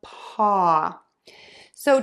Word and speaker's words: paws: pass pass pass pass now for pause and paws we're going to end with a Z sound which is an S sound with the voice box on and vibrating and moving z what happens when we